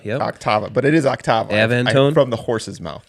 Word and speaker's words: Octava: how to pronounce names, brand names. Yeah. Octava. Octava, yep. Octava. But it is Octava.